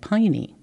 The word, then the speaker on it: peony: There is a Greek legend referring to the word peony. Sometimes it's spelled in the old-fashioned way, P-A-E-O-N-Y, which may account for some folks calling it piney.